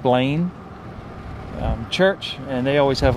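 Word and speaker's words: Belin: So this is, it's spelled B-E-L-I-N, like Berlin, but apparently it's pronounced Blaine.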